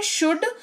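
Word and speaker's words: should: अगला शब्द है शुड। उच्चारण का लॉजिक सेम रहेगा। एस एच ओ यू एल डी लेकिन एल साइलेंट रहेगा।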